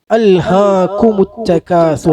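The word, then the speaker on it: أَلْهَاكُمُ التَّكَاثُرُ: അൽഹാക്കും കും ഉച്ചരിക്കുമ്പോ വായ വൃത്താകൃതിയിലാകണം. അൽഹാകുമുത്തകാസുർ വായ ശരിക്ക് തുറക്കണം. തകാസുർ. അതുപോലെ കാഫ് ഉച്ചരിക്കുമ്പോ ഒരു ചെറിയ കാറ്റ് പോണം ഉച്ചരിച്ച് കഴിയുമ്പോ. ക ക ക ഉച്ചാരണവും കാറ്റും കൂടി ഒപ്പാകരുത്, അങ്ങനെ ആകരുത്. ക എന്നാണ് ഉച്ചരിക്കേണ്ടത്.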